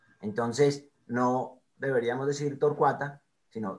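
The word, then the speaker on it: torquata: Bien, en torcuata eso no es un diptongo, entonces el cua no suena como una sola sílaba, sino como dos, porque son dos sílabas, torcuata. Y el acento está en la A.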